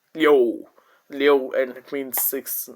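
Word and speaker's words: Liu: and L I O U uh initial L is there so O is stopped so spelling becomes L I U and it is pronounced as Leo Leo and it means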